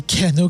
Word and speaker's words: Kelanao: Et on a un certain Kelanao, à prononcer Kelanao comme il le dit lui-même.